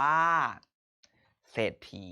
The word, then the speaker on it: เศรษฐี: คำ นี้ อ่าน ว่า เศรษฐี ดี มาก ครับ ขอ อีก รอบ นึง คำ นี้ อ่าน ว่า เศรษฐี โอเค ครับ เหมือน เดิม ครับ เศรษฐี สะกด ครับ ส เอดอ 4 ถ อี ถี ร่วม เป็น เศรษฐี เอา ใหม่ ครับ เศรษฐี